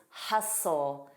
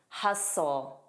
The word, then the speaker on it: hustle: But it's incorrect to pronounce the T in silent T words.